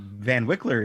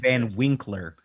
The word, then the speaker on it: Van Wickler: Yeah, well, Van Wickler is the correct pronunciation. I believe what you I said said. Van Winkler.